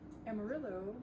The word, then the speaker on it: Amarillo: Amarillo is the name of a color in Spanish. Yellow? Yellow, yeah, amarillo. It's not, actually in Spanish you don't pronounce it Amarillo, No, but it sounds like yeah, exactly.